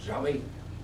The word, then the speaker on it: Yahvé: Este es el término que más o menos se acomoda a este vocablo que en hebreo se pronuncia Yahvé, poco más o menos.